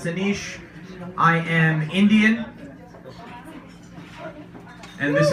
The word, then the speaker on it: Anish: nice my name is Aneesh like I said that's a ni sh pronounce Aneesh I am Indian and